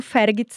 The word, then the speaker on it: Vergutz: Aí ela ligou e tava lá no F, procurando Fergits e não encontrava. Porque se escreve Vergots, mas ela é alemã, só falava alemão e ela tava no Fergits e não encontrava o telefone lá de casa.